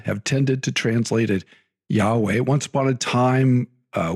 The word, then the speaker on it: Yahweh: Anyway, um there's some I think it's is it fair to say there's some consensus that the pronunciation Yahweh is probably correct?